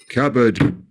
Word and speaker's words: cupboard: Don't say the P in receipt, cupboard, raspberry, coup.